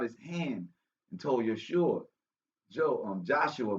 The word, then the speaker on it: Joshua: hand and told Yeshua, Joshua, but we would pronounce him in Hebrew, Yoshua, but there was no J.